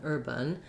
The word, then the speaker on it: urban: I can especially hear this on the vowel in the second syllable. I don't hear any A-like sound for that letter A. It's a schwa. So if anything, you're going to hear an urban, but you might hear almost no vowel at all. Urban, bin. I'm moving right from the B to the N.